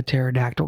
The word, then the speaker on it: pterodactyl: house why don't you hear a pterodactyl go to the bathroom because the p is silent yes about to tell